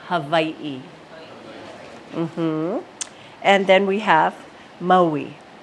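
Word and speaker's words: Hāwī: right so V hav some people say Hawaii and that's okay but we usually say Havi and then we have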